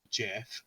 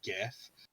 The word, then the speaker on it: GIF: now it is project pronounced jeff not gif just like the peanut butter the oxford english dictionary accepts both pronunciations i want to change